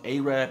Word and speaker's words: Arab: Now, someone from the Arab community let me know. I'm not sure if that pronunciation Arab is a slur, but I do know that the proper pronunciation is Arab.